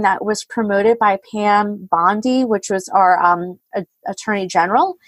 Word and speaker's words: Bondi: I'm a little confused with the Attorney General of Florida, Pam Bondi. Is that right? I do believe that's the correct And pronunciation.